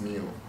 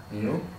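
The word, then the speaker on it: μ: Just pronounced as mu. Pronounced. Actually, let me write this as pronounced as mu.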